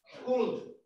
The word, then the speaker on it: called: ¿Cómo se va a pronunciar el pasado de call? Cold. Cold. Cold. Y le ponemos una D. Cold.